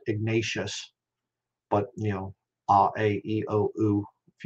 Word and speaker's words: Ignatius: spanish way ignatius not ignatius but you know r-a-e-o-u if you understand the spanish uh vowel pronunciation that's why i say it that way ignatius um but he